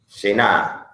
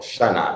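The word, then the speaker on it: שנה: Shin, Nun, He. Shena, or Shana, depending on how you want to pronounce it.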